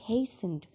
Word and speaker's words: hastened: And hastened, आपने इसको hastened नहीं बोलना बेटे, इसमें टी साइलेंट है। and hastened, बहुत जल्दी से, बहुत